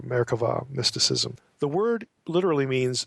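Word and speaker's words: merkavah: Mera with a v it's pronounced V if you're you're saying it in Hebrew marava mysticism the word literally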